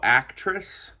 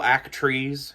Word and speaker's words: Actriz: What I'm doing right now is the uh model actress or model act trees, it's spelled a little weird album.